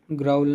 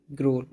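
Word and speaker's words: growl: [गला साफ़ करने की आवाज़] ग्रोल ग्राउल नहीं ग्रोल।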